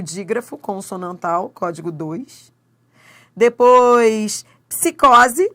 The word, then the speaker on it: psicose: Depois psicose. Ó, os dois sons são pronunciados.